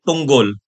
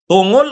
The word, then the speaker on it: Tunggol: Tinanong siya, "Papaano po ba namin ipo-pronounce yung yung apilyo mo, attorney? Tungol o tunggol?" Sabi niya, "Tungol." Yung parang munggol. O. Yun kaya sorry, hindi pala tungol. Tunggol.